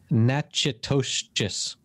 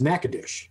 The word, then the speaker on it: Natchitoches: The way it looks like it's pronounced is Natchitoches. Natchitoches. Well, and that pronunciation is what I heard on the radio, but the way it's pronounced in Louisiana is Natchitoches.